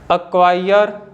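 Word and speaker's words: acquire: के के तुरंत पहले आता है तो सी साइलेंट होता है जैसे कि अ क्वायर अ क्विट आप देख सकते हो कि जो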